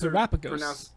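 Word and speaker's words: Terapagos: Sure, those Terrapagos. Those are Terrapagos. pronunciations. Like Galapagos.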